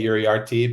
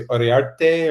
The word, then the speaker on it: Uriarte: You would say in the in English you would say Uriarte, but maybe in some parts of France, maybe in Spain you say Uriarte or something like that. Spain, Uriarte.